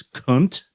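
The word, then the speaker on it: Khünnt: Now, I noted that both you guys were in a band before Pigs, called, I think the correct pronunciation is Kunt.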